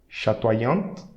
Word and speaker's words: chatoyante: So when you have OY and vowel coming after, so that OY will create OI, okay, and that Y and the vowel coming after will be pronounced separately. So wa nya, wa nya, wa nya, sha toi nya ta, sha toi nya ta, chatoyante, chatoyante. Okay.